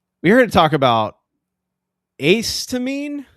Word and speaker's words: Acetamine: Uh we're here to talk about accetoine. Correct. Ace to mean.